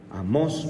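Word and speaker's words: Amós: ha vuelto y amos amos porque tiene acento en la atmósfera amos 5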